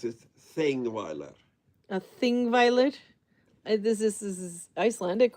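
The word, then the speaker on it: Þingvellir: So you pronounce it Thingweiler. A Thingweiler. This is Icelandic, or? Yep. And that's a Or TH. Old Norse, as you prefer. Tingweiler or Thingweiler? Thingweiler. Thingweiler.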